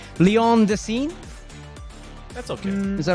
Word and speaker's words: Lyon: It's Lyon Decine. That's okay. Is that right? Yeah. That's pretty much good. You don't fully pronounce the N on Lyon, but it's I'll get there.